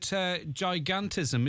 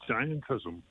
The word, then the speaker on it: giantism: Well, it's actually giantism. Giantism, okay, that makes sense. Gigantic is an adjective, and you can't make a noun out of an adjective, so it's giantism.